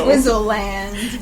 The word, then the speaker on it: Swizzle Land: go to Swizzle land I am not mispronouncing Switzerland it's Swizzle land yeah at first I